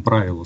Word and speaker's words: правило: то там описывается состояние под названием правила с ударением на первый слог и вот важно выдержать